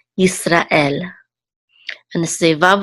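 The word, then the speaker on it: יִשְׂרָאֵל: And this is the accent mark right here, so we know that the accent is on the last syllable, el, Yisrael.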